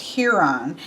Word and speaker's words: Chiron: Then we go into magical beings, and here we have who I have heard as pronounced Chiron, but in Greek is pronounced Huron.